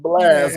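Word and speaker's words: Blxst: don't get tripped up it's pronounced blast but it's not an a I'm I'm GNA type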